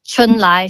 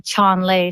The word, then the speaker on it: Chun-Lai: So in Mandarin, it's Chun-Lai. So in English, somehow the translator got it to be Chon-Lei. So then that in itself is like not a direct translation. The name is, butchered pretty much.